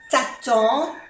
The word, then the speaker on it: t'attends: Je t'attends et N-en, t'attends, no se pronuncia ni la D ni la S.